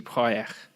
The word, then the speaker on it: Projekt: I know everyone says CG Project Red, but you don't actually pronounce it like that because they're Polish. It's CG Projekt.